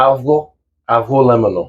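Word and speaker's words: avgolemono: can bowl of a abono lemono yes and technically the g is silent so it's a aono oh I'll practice that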